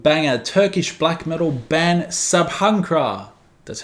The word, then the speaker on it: Sabhankra: got an absolute Banger Turkish black metal ban sabhra that's how you pronounce it dropped the latest album Nocturnal allergies